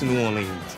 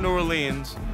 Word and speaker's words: New Orleans: short right yeah yeah it's New Orleans it's not it's not New Orleans it's it's not nans